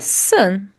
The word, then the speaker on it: son: A palavra son sozinha se pronuncia sun, ok? Mas quando juntamos, fica sanis.